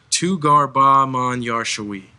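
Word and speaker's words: تو گر با من یار شوی: Can you pronounce it one more time for the record? Tugar Ba Man Yar Shawi.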